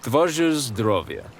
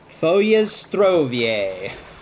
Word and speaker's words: Twoje zdrowie: Twoje zdrowie. Twoje zdrowie.